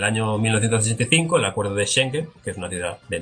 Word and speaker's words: Schengen: ejemplo lo del espacio Schengen, o como se pronuncie, pero yo creo que más o menos ahí está bien dicho. Schengen, está bien dicho.